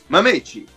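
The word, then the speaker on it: Mametchi: I need you to spell it out for me. M-A-M-E... Hold on one second. M-A-M-E... E-T-C-H-I. T-C-H-I? Yes. Mamechi.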